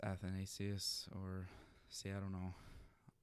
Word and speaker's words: Athanasius: So, I always want to pronounce names in the Greek, kind of, so it would be St. Athanasius or something, but I don't think it matters that much. It matters, but I think it's Athanasius or...